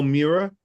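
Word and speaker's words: Mira: And then the next um Hotel Mirror, M I R A, but pronounced mirror. M I R R O R.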